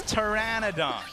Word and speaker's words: Pteranodon: you say is it is it Pteranodon it's Pteranodon for shizzel all right sooon what am I